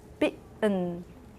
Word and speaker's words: bitten: If it's after a stressed vowel, if that T is after a stressed vowel and before a syllabic nasal in the same syllable, American English speakers tend to make that T a glottal stop.